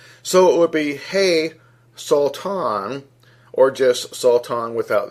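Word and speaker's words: שָׂטָן: and the Hebrew and it's believed to be pronounced as salt on sa WTA WN with the definition or the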